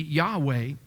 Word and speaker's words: Yahweh: But it's challenging to pronounce a word without vowels. And so we've come to understand we could add the A and the E, Yahweh, to the name for God.